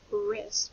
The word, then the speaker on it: wrist: Next, when we hear wrist, that R sound is spelled with a W-R.